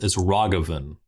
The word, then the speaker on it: Ragavan: It's Ragavan, if I'm pronouncing that right. I mean, you're not. I'm not. How do I pronounce it? It's Ragavan.